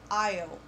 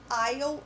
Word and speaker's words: aisle: A gente não pronuncia esse S, tá? Ele é silencioso, então a gente vai falar aisle.